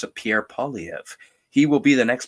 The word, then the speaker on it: Pierre Poilievre: Pierre Poilievre.